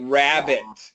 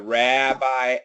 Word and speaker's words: rabbi: Ra like rabbit and after. Yeah. Rabbi after man. Rabbi. Yep. Yeah. Actually Clyde was the one who told me that was ra. Okay. So once again in New York you will say rabbi.